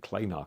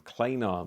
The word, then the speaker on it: klanar: And we have the cheaper Kefine klanar, I think klanar because it rhymes with planar, at £120.